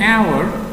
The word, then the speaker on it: hour: We use an when the words start with the consonant H or H because it is not pronounced. Example, I was waiting for an hour. Here we used an because H here is silent or muted.